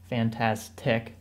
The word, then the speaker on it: FantasTech: We are live giving away $2,000 in tech for Newegg's FantasTech sale, in case you were mispronouncing that. FantasTech, get it? Fantastic.